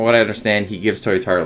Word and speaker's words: Toyotaro: know how to say it guys okay it's toyotaro that's how you say it i know how